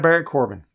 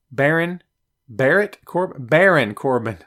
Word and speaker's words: Baron Corbin: Michael, I'm no fan of Barrett Corbin. Baron Corbin. Michael, you had me mispronouncing it there, my friend.